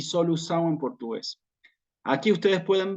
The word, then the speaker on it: solução: En portugués va a ser esta palabra solução. Yo acá no tengo para escribir la C como es en portugués, que se escribe en forma distinta, pero en portugués va a ser solução, ¿sí?